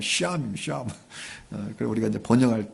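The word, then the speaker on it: שָׁם: 히브리어 여호와 쌈마. 이 샴이다. 본토 발음은 샴입니다.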